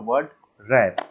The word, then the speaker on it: Word Wrap: Okay, उसके बाद format menu में सबसे पहला टॉपिक है हमारा वर्ड रैप। ओके, यहाँ पे डब्ल्यू साइलेंट होता है, तो पहला टॉपिक लिख लीजिए वर्ड रैप नंबर 1, ऐसे लिखिएगा।